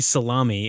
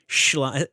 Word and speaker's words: Schlamme: Schlamme. What other porns was he in other than... It's not Tommy Salami. It's Schlamme.